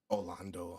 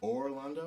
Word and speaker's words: Orlondo: All right, you're saying that like it's Orlando, but it's spelled like Orlando. No. Orlondo. We got the A out of there.